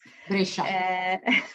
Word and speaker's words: Brescia: I think I'm pronouncing well, Brescia or Brescia? Brescia.